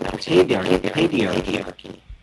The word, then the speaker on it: paedarchy: And Mark, how would you pronounce it? I would actually pronounce it pedarchy.